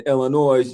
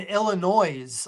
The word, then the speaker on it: Illinois: That the Michigan has to play Arizona for the Final Four, and then Illinois.